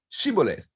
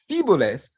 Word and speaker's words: shibboleth: So the Gileadite sentries, they would ask soldiers who were trying to cross the River Jordan to safety to pronounce the word shibboleth. And those who said siboleth, they were killed.